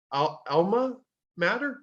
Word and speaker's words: alma mater: Her alma mater, is that how you pronounce that?